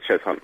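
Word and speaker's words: Cheshunt: Is it Cheshant? It's Chz Hunt. Chz Hunt. Chz Hunt. It's pronounced as chess hunt.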